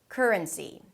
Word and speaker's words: currency: as if it's a 'k' and an 'r' together - "k'r", "k'r". And then you relax your tongue and mouth and energy to a schwa - "k'r-r'n" "r'n" "r'n". And then close it with an N - "k'r - r'n". And then again finish it up with "see". Currency.